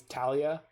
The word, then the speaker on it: Thalia: it differently right but i know for a fact that thalia is talia like i've met a real life talia and it's spelled with